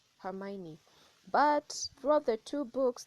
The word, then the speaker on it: Hermione: Ron and Hermione and uh for those who pronounce that name very weirdly it's Hermione but throughout the two books there was actually